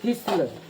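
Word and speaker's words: thistle: national flower of Scotland इसको पढ़ेंगे थिसल इसको टी एच आई एस T silent रहता है इसको थिसल पढ़ते हैं क्या पढ़ते हैं थल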